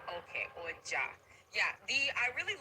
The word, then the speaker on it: Oja: I I really How do you pronounce the name of the flute? I don't want to say it wrong. Oja. Okay. Oja.